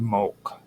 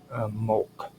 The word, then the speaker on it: Molk: Now, there are stele inscriptions in the Tophets that often mention Molk, which is MLK. The best way to pronounce it in our terms is MOLK, Molk.